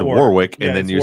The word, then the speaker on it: Warwick: That's not Warwick. That's Warick. Is that his name? Yeah. Warwick Davis. Oh, it is Warwick, isn't it? That's what you said. Yeah, you said Warwick and then you spelled it Warick.